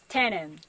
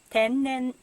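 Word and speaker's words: 天然: It's not tennen, but tennen, natural.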